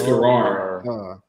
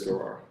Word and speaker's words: Garrard: It's Garrard. It's spelled funny, but it's Garrard.